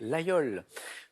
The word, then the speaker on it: Laguiole: terminée ou ce oui le laguiole ça s'écrit elles âgées et aux élèves mais on le prononce bien comme vous l'avez dit didier laguiole tout va se jouer